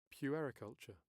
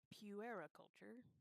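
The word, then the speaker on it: puericulture: How do they pronounce it? So here's British English. Periculture. Puera culture.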